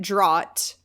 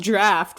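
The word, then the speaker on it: draught: i pronounced the word draft wrong d-r-a-u-g-h-t i pronounced it drought and then tyler texted me the next morning was like you know it's pronounced draft right and i was like no it's not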